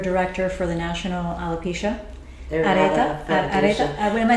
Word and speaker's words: Areata: So you're the secretary of the board of director for the National Alopecia Areata Foundation. What am I saying? Areata Foundation. Sorry. Everyone mispronounces it.